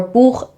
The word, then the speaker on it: Buch: strange at first, and most beginners automatically actually replace this with a k sound. So, machen turns into macken or Buch sounds like book.